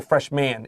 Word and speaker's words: freshman: F-R-E-S-H-M-A-N. Now, 它是 M-A-N, 不要说 freshman, it's freshman. 没错，所以1年级的新生，我们常常用 freshman 来表达。那个 M-A-N 的话，不要念成 man，要念成 man 的感觉。 That's right. With like a short I, like igloo, like that, or in the school.